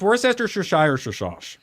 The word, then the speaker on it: Worcestershire: Worcester, no, it's pronounced Worcestershire.